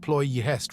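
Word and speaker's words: Ploiești: Pesties pronounced pouest refineries were arranged like the reefs and islands around a lagoon with the city in the center.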